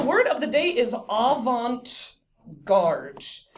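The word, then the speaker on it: avant-garde: day is aant guard I have heard people pronounce this in all sorts of really incorrect ways like Avant gardi or Avant gardi and all of those yeah all of those are wrong so I'm gonna make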